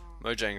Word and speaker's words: Mojang: a y I meant J is pronounced as a y um anyway I'm rambling